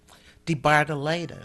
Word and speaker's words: DeBardelaben: at the museum, and her name is DeBardelaben, Yeah. or something like that, right? Say Yes. it, pronounce it.